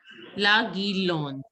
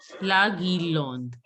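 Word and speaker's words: guirlande: La Guirlon. E is not to be pronounced. La Guirlon.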